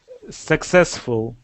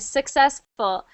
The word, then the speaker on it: successful: can say good you're right it's tour tour successful good successful so the first time you read it you